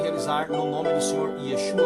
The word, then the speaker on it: Yeshua: um pseudônimo criado, porque o seu nome verdadeiro é o pronunciado em hebraico, Yeshua, que é o que